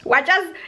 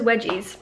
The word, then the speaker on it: wedges: say it wedges wedges it's wedges it's like an understated is so yeah he says wedgies and now I now I'm saying it too because of you it's how it's said it's not it's wedges no way did